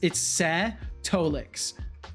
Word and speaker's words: Setolyx: It's funny though, because the best way I introduced my name to people was by saying it's Setolyx. Like, and I would literally spell it like this.